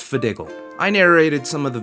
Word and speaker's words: FDGL: Hi, my name is FDGL, pronounced Fidiggle.